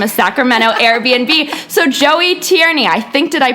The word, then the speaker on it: Tierney: I took from a Sacramento Airbnb so Joey Tierney I think did I pronounce that right you did thank you for